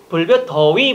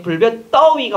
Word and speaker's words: 불볕더위: 근데 여러분 발음은 어떻게 돼요? 불볕, 더위 보통 이렇게 되는데 불볕, 떠위가 맞는 겁니다.